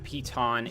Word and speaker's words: piton: We're gonna slap a piton in there.